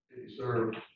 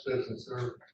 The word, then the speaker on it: Citizen Serve: software to go with City Serve, that's how you pronounce it, Citizen Serve.